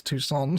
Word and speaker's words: Tucson: I actually had a comment on the Isos episode the other day saying, "Egg, you're pronouncing toxin wrong. It's Tucson."